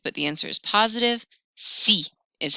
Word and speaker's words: si: assume a negative but the answer is positive c is how you say yes so that's kind